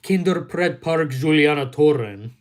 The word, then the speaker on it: Kinderpretpark Julianatoren: One day I'm gonna be the first American person touring the Netherlands and visiting the children's theme park known as Kinderpretpark Julianatoren. That's the correct pronunciation.